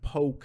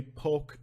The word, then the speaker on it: Polk: The town of Bartow is in Polk County, and we don't say Polk County, we say Polk County here in Florida. Don't ask me why, that's the way we pronounce it.